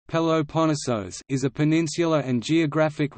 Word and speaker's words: Πελοπόννησος: The Peloponnese, or Peloponnesus, Greek, Peloponnesos, Peloponnesos, Greek pronunciation, Peloponnesos, is a peninsula and geographic region in southern Greece.